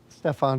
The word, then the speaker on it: Stefan: Stefan Janoski episode. I hope you enjoy it. How do you pronounce your name?